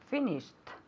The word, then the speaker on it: finished: Finished. Okay, good. Is it a T or a D? A T. It's a T, exactly. Finished, okay? That's why it has that sound at the end.